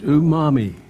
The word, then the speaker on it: umami: Unami, Not to, it's umami. Umami. Question 5. What's the answer? Says, did they get it? Umami. Ooh, U-M-A-M-I, pronounced umami.